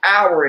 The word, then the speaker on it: hour: That's why they put time with a silent H, but they still got the word hour in it because they can't lie.